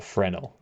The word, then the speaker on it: Fresnel: obviously I go with fresnel yeah so the name is pronounced FR frel or frenel the S is silent yeah hello 1 hour